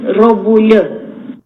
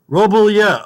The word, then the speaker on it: Robulya: The right name to pronounce the surname is Robulya. Robulya. Okay, thank you, Lexi. Lexi just told me the correct pronunciation is Robulya.